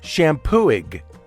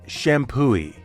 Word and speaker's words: Champoeg: It looks like it should be pronounced Champoeg, right? Why isn't it Champoeg? Is right. The G is silent, and the accepted pronunciation is Champoeg.